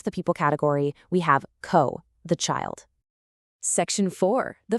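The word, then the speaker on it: 子: Our source defines it anomi as she sue and it gives us the nice really simple kunomi of co.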